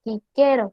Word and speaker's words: Cicero: La C sonaba siempre como K. Si tenemos la palabra Cicero, debe de pronunciarse quiquero, que significa Cicerón.